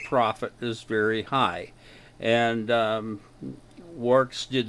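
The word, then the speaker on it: Worx: to show you is works incorporated i had to check the internet for the pronunciation of this it's it's like work but it's with an x w o r x works incorporated and um this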